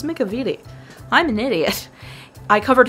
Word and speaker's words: McEveety: Frank double Vincent Macavity whose last name I've been mispronouncing since he started working on Disney films that's a lot that's many I don't know why I was pronouncing his last name wrong I just really couldn't comprehend how to say it and then one day I was like it's McCovey T I'm an idiot I